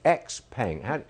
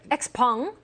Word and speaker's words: Xpeng: I don't know how to pronounce this. Xpeng. Xpeng.